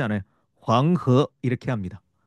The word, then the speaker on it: 황허: 황허 이렇게 합니다. 황허. 이것을 우리말로 읽으면 황하가 되고요.